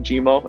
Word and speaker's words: Jimmer: GMO means lonely and it sounds like Jimmer Jimmo and that's how people kind of pronounce my name over here. They can't really pronounce the e r so they say go